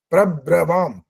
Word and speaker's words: प्रब्रवाम: प्र भी बोला है, ब्र भी बोला है, लेकिन बोलना कैसे होता है वो मैं बता रहा हूँ। प्रब्रवाम, उसमें बल लगना चाहिए, बस बल लगेगा तो आपका उच्चारण शुद्ध हो गया, अन्यथा वो शुद्ध है।